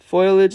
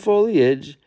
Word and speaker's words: foliage: Anytime you can see cake with yellow frosting whenever somebody mistakenly says foliage instead of foli foilage instead of foliage.